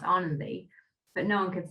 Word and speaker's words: Ananthi: It's spelled Ananthi, and that's how English people would say it, but it's pronounced Anandi.